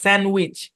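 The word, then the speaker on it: sandwich: স্যান্ডউইচ, স্যান্ডউইচ, স্যান্ডউইচ শব্দের মধ্যে D silent.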